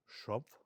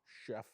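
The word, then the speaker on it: Schupf: You got to help me with this pronunciation. Paul J. Schrumpf? Chef.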